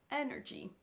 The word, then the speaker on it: energy: l'heure le petit 3 donc là on sait que c'est energy energy ce sera sur la première syllabe on peut aussi écouter